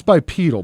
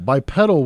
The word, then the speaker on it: bipedal: that sounds like that's bipedal bipedal would be a plant that has two petals you're talking about a flower stop putting another emphasis on the wrong syllable okay go [ __